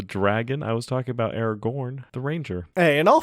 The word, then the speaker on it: Aragorn: Somebody pronounced Aragon. I'm assuming it was me because I'm not very good. Which is the dragon from which is a dragon from a novel. Yeah, Aragorn is the character from Lord of the Rings.